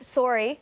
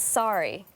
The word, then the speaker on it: sorry: here the next one instead of sorry which is Canadian it's sorry sorry kind of like a sorry like a sorry that's